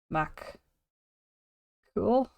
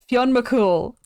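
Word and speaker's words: Fionn mac Cumhaill: Mac cool or um as it's been anglicized Finn Finn mol which I hate I hate it so much this is his name up here not this that's not how it's spelled Fon mul so him and kolan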